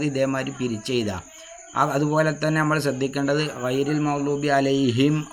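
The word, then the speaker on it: عَلَيْهِمْ: പിരിച്ചെഴുതുക അതുപോലെതന്നെ നമ്മൾ ശ്രദ്ധിക്കേണ്ടത് അലൈഹിം അലൈഹിം എന്ന് പറഞ്ഞിട്ട് ചുണ്ട് കൂട്ടിയിട്ട് എന്ത് ചെയ്യണം വാവിനെ ഉച്ചരിക്കണം സാക്കിനായ മീം ശേഷം സാക്കിനായ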